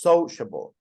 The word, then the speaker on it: sociable: a stress so so absolutely the first sociable sociable we don't say so so that would be the second one or the last so so we don't say that so again the stress